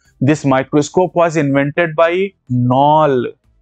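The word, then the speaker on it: Knoll: microscope वास invented bye नल के silent है कुणाल नहीं पढ़ना दिस इसे नॉन और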